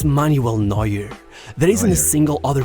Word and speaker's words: Neuer: That's how he pronounced it. I said Neuer, so Neuer.